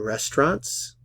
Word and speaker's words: restaurants: Does he eat in restaurants? Does he eat in restaurants? Restaurants? Restaurants? Restaurants? No pronunciamos el diptongo aquí.